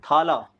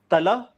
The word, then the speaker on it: thala: I put the emphasis on the tha for deliberate effect because I think it sounds cooler. But I think it's pronounced tala. Like it's like the th is rather soft. It's supposed to be softer. Right, but and even for the last la also now we Northeast pronounce it like la, but it's more of a la.